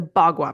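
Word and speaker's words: bagua: might have to spell this out is a BWA map. Yeah, I know. You said it perfectly. And how do you spell it?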